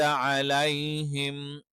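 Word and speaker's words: عليهم: അതുകൊണ്ട് തന്നെ അലൈഹിം, അലേ എന്ന് എകാരമായിട്ട് ഒരിക്കലും പറയാൻ പാടില്ല.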